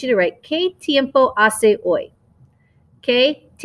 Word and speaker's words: hace: to write que tiempo ace que remember we don't pronounce the h's so it's ase if you want to